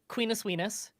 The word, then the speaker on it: Queenus Weenus: So Queenus Weenus, the first syllables in the words rhyme, as well as the last syllables, much like Coca-Cola and other such very good brands. Mhm. Weenus, as in your elbow, the skin on your elbow, but also spelt the French way, like oui, like yes.